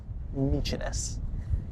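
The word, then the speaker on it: Mykines: It's not my kind. Nichinus noninus.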